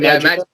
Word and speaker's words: Imagika: How do you pronounce it? IMAGIKA.